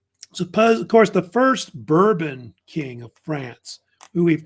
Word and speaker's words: Bourbon: And Henry was descended from this so-called Bourbon family, or they really pronounce it Bourbon.